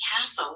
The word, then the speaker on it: castle: so what happens is the t is silent and the e is silent so we're going to